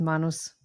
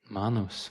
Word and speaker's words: Manus: impossible to work with and uh I used Manus. Manos. Okay. How do you spell that?